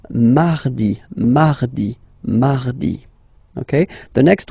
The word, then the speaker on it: mardi: You don't need to go too deep like mardi, no, no, no. You don't move your tongue, so it doesn't sound like mardi, no. It's really soft, mardi, mardi, mardi, okay?